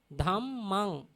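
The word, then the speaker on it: Dhammaṃ: We call the end of the nasal sound, we call Buddhang. Pronounce Buddhang. Buddhang. Dhammang. Dhammang. Sanghang. Sanghang. If someone cannot pronounce the nasal sound, he can follow the makar.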